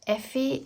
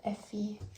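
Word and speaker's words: Ephy: By the way, if I haven't mentioned it, Effie is spelled E-P-H-Y. It's like the abbreviation and nickname for ephemera. So Effie comes from ephemera.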